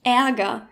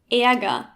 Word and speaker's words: Ärger: Let's begin with the ä, found in words like Ärger, Käfer, or Hängemattenverankerung. Many Germans, including me, pronounce it as e, like in Esel, but try to listen to the difference. Ärger, Käfer, Hängemattenverankerung. Ärger, Käfer, Hängemattenverankerung.